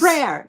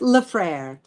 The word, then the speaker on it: LeFrere: LeFrere, just LeFrere. LeFrere. I mean, I never use the French pronunciation, but you could say LeFrere, but it's just LeFrere. But everyone gets it wrong.